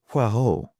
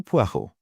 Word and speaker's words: Poirot: Monsieur Poirot. He corrected her with an emphasis on the last syllable. Hercule Poirot.